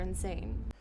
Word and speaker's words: insane: When you hear it, you're gonna think we're insane. When you hear it, you're gonna think we are insane. Insane means crazy. It's an adjective for C1 level. It's a little bit informal. The stress is on S.